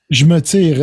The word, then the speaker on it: Je me tire: And Je me tire. Is that how the song is pronounced? Yeah. Je me tire.